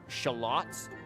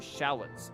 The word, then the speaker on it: shallots: you're learning words from for example there are some words words like shalots that I actually like pronounce the British way most people pronounce them shallots in America but because I first encountered hearing the word from listening to like European and British chefs um I pronounced the word shot as as shalot so like so it